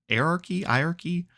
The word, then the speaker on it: hierarchy: Yeah, it's just hire like hire.